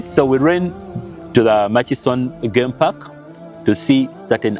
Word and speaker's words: Murchison: some of you say how do you say that word it's Mas Falls ma maction some of you say maction it's m ma it's machis machon yeah machon FS okay yeah that's the right spelling you all see